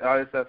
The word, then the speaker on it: Iosefa: We actually had Joey Iosefa, is how you pronounce his last name, I think. Playing for the Patriots, right? Iosefa, exactly.